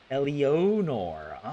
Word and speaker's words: Elionor: Elionor. Okay, well, never mind. Everything I said about Elanor, I take it back then. All right. It's important because it's pronounced Elionor. Her love interest is a lion-headed guy named Leojol.